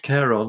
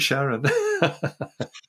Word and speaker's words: Charon: That Pluto and Charon, as it's normally pronounced. Sharon. We had a discussion before the show, didn't we, about how you should pronounce this? And I said, don't call it Sharon. Sharon. Anyway, I've heard NASA people call it Sharon, so that's all right too.